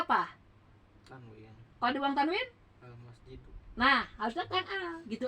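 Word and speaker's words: المسجد: Kalau dibuang tanwin, Al-masjidu.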